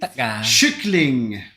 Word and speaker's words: kyckling: that you are, because a K in kyckling is actually spelled the same way as you would like CH in English.